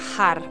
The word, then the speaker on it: har: would love to do Mantra har h a r and you've roll the tongue on a r tonight if we can